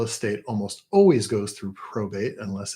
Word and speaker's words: probate: Again, probate rhymes with state.